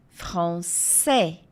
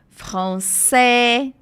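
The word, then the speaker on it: français: É Então francês é francé franç E vocês estão observando que o s no final não é pronunciado v françis a gente não fala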